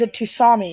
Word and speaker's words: tsunami: And there is a tsunami incoming. Tsunami. A tsunami. There is clearly a T there. You don't pronounce the T.